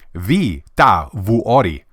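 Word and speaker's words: Vihtavuori: years I don't know it's pronounced v vui v vui I'm told that you probably won't get the H to sound right because apparently even fins can get it wrong all right we're going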